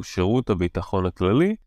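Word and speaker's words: שירות הביטחון הכללי: It's a bit difficult words to pronounce, so I'm going to say them again slowly. So Shirut HaBitachon HaKlali collect domestic intelligence within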